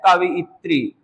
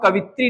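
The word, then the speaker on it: कवयित्री: Next अगला और शब्द देखेंगे, जैसे कि शब्द है कवियत्री। तो अब हम कवित्री ना बोले, कवियत्री, और जब ये उच्चारण हम साथ साथ सही करेंगे तो परीक्षा में कभी गलत नहीं होगा।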